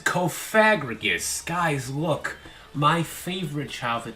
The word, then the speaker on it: Cofagrigus: Cofagrigus will fit well on this team, and through Cofagrigus' might, I know in the comments go, it's pronounced Cofagrigus.